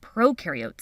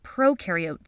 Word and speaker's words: prokaryote: when you think of prokaryote think of pro rhyming with no no nucleus no membrane-bound